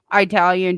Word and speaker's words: Italian: You don't pronounce the I with an I.